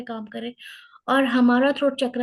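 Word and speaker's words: हं: और हमारा थ्रोट चक्र है हम, HUM, हम।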